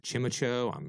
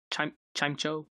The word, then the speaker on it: Chimecho: Is it Chimicho? I often mispronounce Pokemon names, but there's... Chimecho?